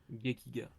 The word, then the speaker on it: Gekiga: Comment ça se prononce ? Gekiga Gekiga, merci.